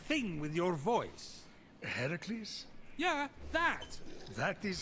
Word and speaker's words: Hercules: doing there that thing with your voice a hercules yeah that that is how it's supposed to be pronounced seems like a lot of work but